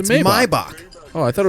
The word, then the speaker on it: Maybach: out that rappers are pronouncing that car wrong, too. Excuse me? Maybach music? It's a Maybach.